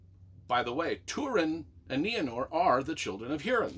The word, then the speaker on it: Nienor: I don't know even how to pronounce this, even though I listened to Christopher Lee pronounce it over and over. I think it's Nienor.